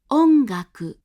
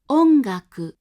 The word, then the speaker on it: ongaku: This means that before K and G, velar sounds, the hatsuon is pronounced like this, as a voiced velar nasal.